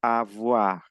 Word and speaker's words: avoir: Porque la O y la I en francés es oa. Entonces yo digo avoir. Le verbe avoir.